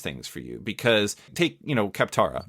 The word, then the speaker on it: Kaptara: Because take, Kaptara, or did I pronounce that right? Kaptara. Okay. Sure.